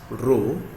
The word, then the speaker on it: rho: So we have also that the symbol we have for this is pronounced as rho.